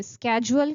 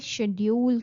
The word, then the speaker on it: schedule: कुछ लोग इसे schedule कहते हैं, कुछ लोग इसे schedule कहते हैं. So what's the right pronunciation? The correct pronunciation is both, but British pronunciation is scheduled. Scheduled. While American pronunciation is scheduled.